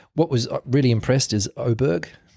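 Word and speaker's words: Åberg: was really impressed is oberg it's it's spelled aberer but apparently they pronounce it oberg ludvig so he's the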